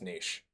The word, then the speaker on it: niche: Once this clip escaped its niche corner of the internet, it spread like wildfire.